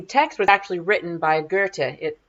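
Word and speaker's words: Goethe: uh and the text was actually written by Gerta it spelled goe t e but it's pronounced ger and he was a very famous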